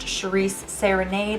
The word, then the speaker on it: Shiries Serenade: of you who don't know my name is pronounced Charisse serenade if you are new what's up welcome how's